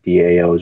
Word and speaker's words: DAOs: For anybody that doesn't really know that, their DAOs are pronounced DAOs.